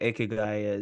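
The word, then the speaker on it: ikigai: framework I'm not sure if you know what akigai is um but it's this Japanese concept that um so it's spelled i k i g a i and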